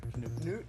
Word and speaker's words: Knuth: Is it Knuth? Canute? Canute. H is silent.